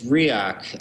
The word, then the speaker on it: Riak: to explain now I probably even mispronounced it riak ryak how do you pronounce that first the word is it's riak um chosen mainly because um it's it's easily